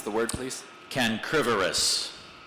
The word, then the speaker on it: cancrivorous: A starfish is cancrivorous, feeding on the small crustaceans usually found in tidal pools. What's the origin of the word? That would be Latin. Can you repronounce the word, please? Cancrivorous. Cancrivorous.